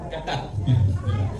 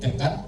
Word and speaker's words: CapCut: Nah ini untuk pelatihan pada pagi hari ini kita akan menggunakan aplikasi CapCut. CapCut. Ya, CapCut bacanya. Tapi kadang kita kan nyebutnya capcut. Capcut. Cuma kok agak saru.